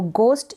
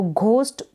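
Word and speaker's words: ghost: तो गोस्ट यानी कि भूत, तो घोस्ट पढ़ना गलत हो जाता है, तो करेक्ट जो प्रोनाउंसिएशन है GH का, यहाँ पर गोस्ट पढ़ेंगे इसको।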